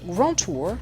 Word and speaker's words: grand tour: Il faut prononcer cette expression grand tour avec l'accent anglais parce que ce sont surtout